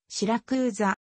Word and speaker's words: シラクーザ: の県都である標準イタリア語の発音に近い表記はシラクーザ古代ギリシャの植民